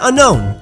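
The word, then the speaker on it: Unown: Manta and marine and unknown I get a lot of comments primarily because of J wits and the aura guardian that you have to pause between unn and own because the 3d pokedex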